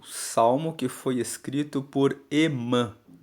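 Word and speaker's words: Hemã: Emã se escreve com H-E-M-A-N. Emã. E tem algumas versões da Bíblia que escrevem o nome dele como H-E-M-A com tio. Emã.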